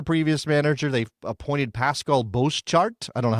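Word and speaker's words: Bosschaart: They've appointed Pascal Boschart. I don't know how to say that properly. It's 2 A's together. How do you say 2 A's together, Robert? Boschart. Okay. Just like that.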